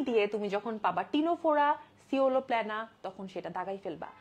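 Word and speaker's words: Ctenophora: হচ্ছে টিনোফোরা আচ্ছা এটার এটার উচ্চারণ কিন্তু টিনোফোরা সিনেটোফোরা না সো যদি তোমাকে বাংলায়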